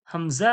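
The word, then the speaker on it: ء: কণ্ঠনলীর শুরু থেকে কি উচ্চারণ হয়? হামজা হা।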